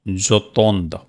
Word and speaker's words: j'attends: If any word starting with E, again you have to write here J apostrophe, and that is pronounced j'attends.